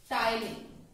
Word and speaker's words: ptyalin: Salivary amylase, also referred as ptyalin. P is silent here.